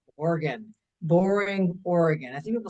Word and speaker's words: Oregon: It's just like your your spleen or your liver organ.